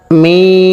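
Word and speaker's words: م: মিলে যাবে লাম লাম মিম এই হরফটি বলতে উভয় ঠোঁট মিলিয়া শুরু হবে উভয় ঠোঁট মিলিয়া শেষ হবে তিন আলিফ পরিমাণ টান হবে ওই সময়টা মুখ খোলা থাকবে মিম মিম নুন তিন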